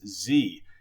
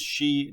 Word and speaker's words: Xi: edit this video that I have repeatedly mispronounced the Chinese president's name as Z the correct pronunciation is she I don't really have